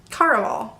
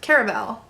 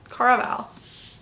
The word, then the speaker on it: Caraval: saw this book that it was called Carnival it's Carnival caraval caraval pronunciation isn't always my thing